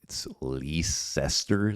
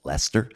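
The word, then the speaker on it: Leicester: Yeah, I think one of them might have been like leester. So like kind of the way it looks like it's spelled but it's actually pronounced Lester.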